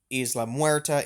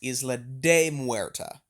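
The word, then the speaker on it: Isla de Muerta: who is not uh it's not just Islam muera it's Isla de muera um the word day being Spanish for of if you're going to name an island that is present in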